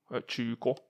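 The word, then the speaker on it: 中古: Chuko is the right way to say it.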